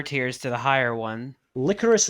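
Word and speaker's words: Lycoris: to the higher one licorice recoil because i think that's actually how it's pronounced rather than lycaus yeah it's licorice i'm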